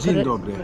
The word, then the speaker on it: dzień dobry: It's a little weird question, but I want to try to speak Polish, and I don't know how to pronounce hello, like dzień dobry. Dzień dobry.